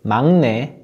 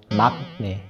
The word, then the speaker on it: 막내: You want to pronounce it as 막내, not 막내.